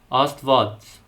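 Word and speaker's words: Աստված: But, if followed by a vowel, the Vo and Hyun letter combination will sound like a V. As in the word for God, Astvats.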